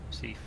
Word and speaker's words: Recife: Is that how it's pronounced? Recife? Recife.